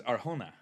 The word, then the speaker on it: Arjona: Dakota Johnson and Adria Arjona. Is that how you pronounce it? Uh she is Latina. So is Arjuna.